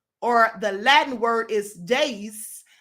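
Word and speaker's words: deis: The 3 wheels of time are the day, or the Latin word is days. That's D-E-I-S, but it's pronounced days.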